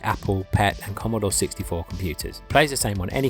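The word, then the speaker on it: Compute!: It's from a magazine called Compute. And I say it like that cuz it's got an exclamation mark at the end of it.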